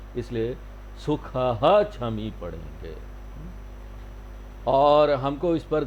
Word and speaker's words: सुखः क्षमी: यहाँ पर संस्कृत में उच्चारण का एक नियम है कि जब भी ख के बाद छ आएगा और उसके बीच में विसर्ग है, दो बिंदी है, तो हम उस विसर्ग को पूरा पढ़ेंगे।